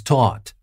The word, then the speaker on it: taut: said the film was taught and taught here is spelled t a u t so it might sound like taught the past of teach but it's obviously not